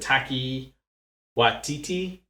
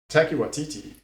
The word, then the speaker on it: Taika Waititi: Is it Taki Waititi? Taika Waititi.